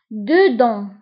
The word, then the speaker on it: dedans: Dedans. Dedans. داخل. داخل. Dedans. Dedans, كنكتبوها بS في آخر الكلمة ولكن لا ننطقها.